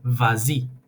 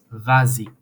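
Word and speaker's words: vas-y: becomes easier and uh the S at the end becomes pronounced as Z vazi and obviously the same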